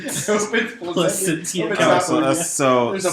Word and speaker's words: Placentia: It's canned by the brewery in Placentia. Is that how you say it? Placentia. Placentia, Placentia.